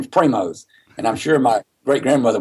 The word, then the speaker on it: Primos: people interested in name Primo's and learn to pronounce it people say primo they say primo but it has an s donut in its Primo's it was it's a